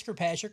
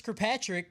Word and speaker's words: Kirkpatrick: He's like, I learned that Chris Kirkpatrick rhymes with "get your ass kicked," and then they played the Eminem song.